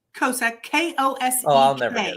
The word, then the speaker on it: Kosek: Kosek, K-O-S-E-K.